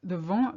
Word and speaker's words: vent: And then I realized they mispronounced the vent with, they pronounced the T, they put an E on the end. So I heard vente, sales. So really be careful with that vent, wind, vente, sales.